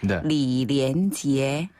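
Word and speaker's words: 李连杰: 정롱 정롱 정롱 정롱네 이형 걸 씨는요 리리엔 지에 리리엔 지에 리리엔 지에 리리엔 지에네 이렇게 발음해요 아 뭔가 운율이 좀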